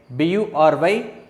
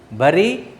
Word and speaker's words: bury: B-U-R-Y, present tense, B-U-R-I-E-D, past tense. So, here pronunciation is B-U-R-Y is bury, not bury or bury. Not bury or bury.